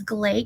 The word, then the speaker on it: Glay: And for those of you that are new, my name is Glay. You say Clay with a G, but it's spelled with an E.